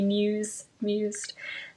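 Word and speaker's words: Muise: you want to be mused. And I just want to say one final thing, not final, but as I work on this, my grand-mère's last name is Muse, and it's spelled M-U-I-S-E.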